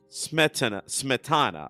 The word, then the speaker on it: Smetana: But Better Zik Smetana.